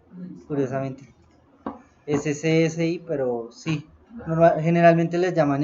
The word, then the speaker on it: SCSI: Entonces vamos a dejarlo SCSI por defecto. Sí, en serio, así se pronuncia, curiosamente. SCSI, pero sí, generalmente les llaman SCSI.